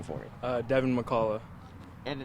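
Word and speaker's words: Devin McCalla: your first and last name for me uh devon mccalla and how do you spell that d-e-v-i-n-m-c-c-a-l-l-a all right devin so first and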